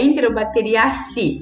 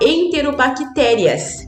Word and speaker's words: enterobacteriaceae: pronuncia e aí o a forma de pronunciar então é enterobacteriaceae' e é diferente do que eu falar enterobactérias que também é um